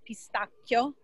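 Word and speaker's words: pistacchio: from the their pistachio which by the way is pronounced pistachio in italian italian okay divine divine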